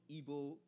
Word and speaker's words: Igbo: Igbo.